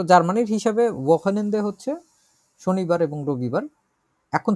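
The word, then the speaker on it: Wochenende: উচ্চারণ করি তো আমরা ওয়াকেনেন্দে, এটা একটু জটিল আছে। ওয়াকেনেন্দে, ওয়াকেনেন্দে, ওয়াকেনেন্দে এই শব্দটা আমরা প্রায় সময় পাবো এরপর থেকে।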